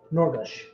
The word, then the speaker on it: Gnorgush: Norgush. Norgush? It's spelled Gnorgush.